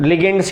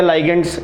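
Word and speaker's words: ligands: तो इसको भी नेगेटिव लिगेंड्स बोल सकते हैं, लिगेंड्स या लाइगेंड्स दोनों प्रोनाउंसिएशन होता है, ठीक है।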